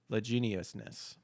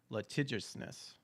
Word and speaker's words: litigiousness: its legendary leg geniusness I feel like I'm not pronouncing that word right added to the vocabulary list I guess learn something new every day right I just want to see if litigiousness litigiousness ah okay I guess that's how you pronounce it litigiousness cool pal world